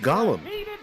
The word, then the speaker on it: Golem: love gollum no no it's golem but it's pronounced gollum not in pokemon not in